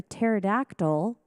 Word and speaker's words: pterodactyl: Why can't you hear a pterodactyl go to the bathroom? The P is silent.